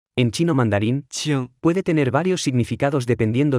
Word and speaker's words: 请: 请 Se pronuncia con el tercer tono. En chino mandarín, 请 puede tener varios significados dependiendo del contexto.